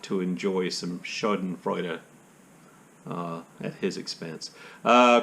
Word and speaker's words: Schadenfreude: you love that word right now would be schadenfreude that's my best german pronunciation of schadenfreude which essentially means taking pleasure at someone else's